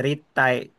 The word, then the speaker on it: 立体: wa korene ritai. Ini bacanya ritai. 立体。 Hai, bukan Ritai Effendi ya. Ritai, うん。 T-nya dua. Ritai.